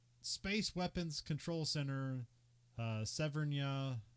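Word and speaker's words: Severnaya: weapons control center uh severnia or severnia or you know Russia severinaya okay yeah that's how you say it in the movie so oh by the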